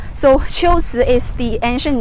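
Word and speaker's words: 龟兹: so it should be the right way to pronounce the two characters is Qiuzi. So Qiuzi is the ancient name of Kucha, the place here.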